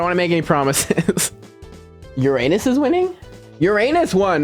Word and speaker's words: Uranus: Are you trying to teach me how to pronounce it? Uranus is correct.